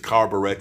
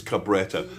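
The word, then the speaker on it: Cabretta: I was I was used to pronounce it carbburetta but it's not. It's Cabetta.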